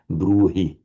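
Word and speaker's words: ब्रूहि: So of course in French you wouldn't do it but we have an h here in between two vowels. It is very distinctly pronounced as a bruhi bruhi.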